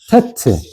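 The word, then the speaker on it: טית: 그다음에 테트 테트 그다음에 요드 자 한번 읽어 볼게요.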